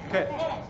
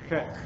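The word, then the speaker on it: ח: Ket. Put that little guttural thing in there. Ket.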